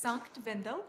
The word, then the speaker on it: Sankt Wendel: broadcasting the Leonhart World Championships, which is in, pronounce it for me, please. Sankt Wendell.